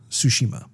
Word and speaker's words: Tsushima: When I've seen the reviews, the general consensus is it's pronounced Tsushima. Which is, at least the T has been addressed. You know, like the T is basically silent.